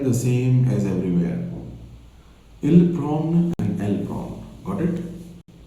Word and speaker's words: prennent: Je prends, tu prends, il prend, elle prend, nous prenons, vous prenez, ils prennent, elles prennent. ENT will be silent the same as everywhere. Ils prennent and elles prennent.